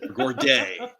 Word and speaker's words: Gourde: Now, Gourdet. Does he pronounce it Gourdet or Gordy? Oh, wait. Yanni Gord. Yanni Gord. There you go.